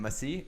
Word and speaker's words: Massie: there you go Thomas how do you say his name Massey Massey Massey yeah Thomas Massie looks